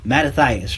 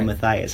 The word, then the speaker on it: Mattathias: But wouldn't you say that Mattathias, right? I always want to say Matthias. I say it wrong.